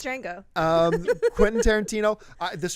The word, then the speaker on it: Django: christophe walsh james fox no the d is silent it really is it's django um quentin tarantino uh